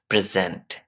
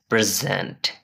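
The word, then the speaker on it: present: মধ্যে দুইটা বিষয় আছে যখন এই ওয়ার্ডটা নাউন হবে তখন এখানের মধ্যে আমাদের প্রথম সিলেবলে প্রেসারাইজ করতে হবে ফর এক্সাম্পল প্রেজেন্ট আর যখন এটা ভার্ব হবে তখন it should be pronounce like প্রেজেন্ট ওকে এবার আপনার পালা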